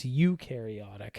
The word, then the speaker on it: eukaryotic: Eukaryotic stands, so eu rhymes with do, so they do have membrane-bound organelles.